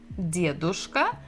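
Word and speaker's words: дедушка: We have de, d, dedushka, and here we have bukva v, девушка. And the stress is also the same syllable, the first.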